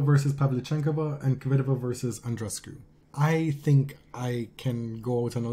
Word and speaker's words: Andreescu: You're just intent on not pronouncing her name the way Bianca wants it pronounced, right? You're like, I am going to pronounce both those E's.